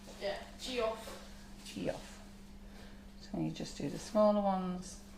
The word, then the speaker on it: Geoff: So Jeff is spelled Geoff, isn't it? Yeah, Geoff.